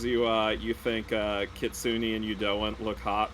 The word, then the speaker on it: kitsune: one of those people kitsune is how it's pronounced in japanese i i used to